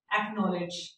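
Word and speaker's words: acknowledge: लेकिन यहाँ पे आप देखिएगा इसके स्पेलिंग होते हैं ACKNOW। जब भी के, याद रखिएगा के और एन इकट्ठा आ जाता है, जब भी के और एन इकट्ठा आ जाता है जैसे कि नॉलेज में आता है तो हम के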